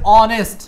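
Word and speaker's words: honest: বুঝতে পারতেছি সবাই তাহলে দেখেন অনেস্ট এখানে এইচ এর উচ্চারণ নাই সরাসরি কি দিয়ে উচ্চারণ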